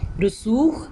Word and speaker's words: رسوخ: ہے کے اوپر جزم۔ رسوخ، رے کے اوپر پیش، سین کے اوپر پیش، واو اور خے کے اوپر جزم۔ منطق لفظ ہوتا